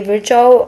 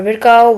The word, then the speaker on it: Virchow: So I say Virchow or Virchow, whatever you want to say, just say it.